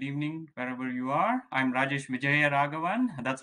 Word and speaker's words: Rajesh Vijayaraghavan: I'm Rajesh Vijayaraghavan. That's how you spell it, Chris, or that's how you pronounce it.